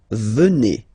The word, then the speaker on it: venez: And then vous venez. Remember a Z combined like that? Et. Venez.